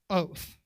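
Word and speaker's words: אות: pretend to know any hebrew but this is pronounced oath what it means is sign and it's the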